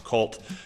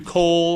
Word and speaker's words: Colt: And if I did, I'm really apologetic because my name gets butchered a lot, from Colt to Cole or Cold or Colton or Coltito or, or yeah, it's crazy.